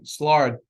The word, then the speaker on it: Szilard: Now, Leo, I always pronounce this wrong, Szilard, was the first to propose that we could keep a self-sustaining chain reaction.